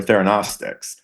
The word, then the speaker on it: theragnostics: it's therapeutics, diagnostics, or theranostics. But the G is pronounced by some people, but the trend now is to not. So it's Theranostics.